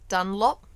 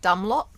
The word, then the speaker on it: Dunlop: it up for everyone he is talking about dunlop not dumb lot dumb lock done